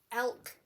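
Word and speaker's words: Alk: Elk, pronounced or spelled A-L-K, and Me Fiber Art Studio.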